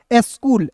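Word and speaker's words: school: तो यहां देखिए सी एच का उच्चारण दोस्तों सी का उच्चारण यहां पे क के रूप में करेंगे।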